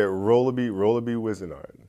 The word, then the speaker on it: Rolabi Wizenard: Yeah, Rolabi Wizenard.